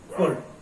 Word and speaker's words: could: कुड, कुड, कुड एक ही syllable का word है, हम कुड में एल का यूज नहीं करेंगे, एल की आवाज नहीं निकालेंगे, एल या साइलेंट रहेगा।